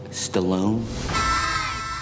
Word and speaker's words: Stalin: gift to my grandfather from stalin in my country it's pronounced stallone